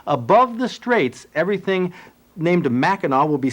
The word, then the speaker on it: Mackinac: people were inhabiting and they spelled everything with a W but they both pronounce it Mackinac but notice that the